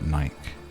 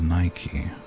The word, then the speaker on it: Nike: Or like Nike says, just do it. And in the UK we call it Nike, even though apparently the correct can't even say correct. The correct pronunciation is Nike.